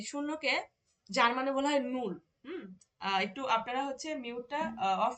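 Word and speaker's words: null: বলি শূন্য এই শূন্যকে যার মানে বলা হয় নূর একটু আপনারা হচ্ছে মিউটটা অফ রাখেন আপু মিউট অফ করে আমার সাথে সাথে একটু ইয়া করবেন বলবেন শূন্য টাকে বলা হয় নূর নূর যাকে আমরা ইংরেজিতে বলি জিরো ওয়ান টাকে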